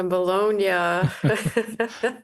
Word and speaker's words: Bologna: Yeah, Bologna. There you go. My wife would tease me. She knows I can't pronounce these names sometimes.